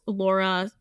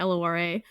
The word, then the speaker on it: Lora: So my name is Laura, spelled like Dora, so the phonetic way, Lora, like the chess piece.